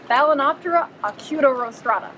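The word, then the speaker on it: Balaenoptera acutorostrata: it it's really cool it rhymes with hakuna matata what balinoptera acuto rostrata which means pointy nose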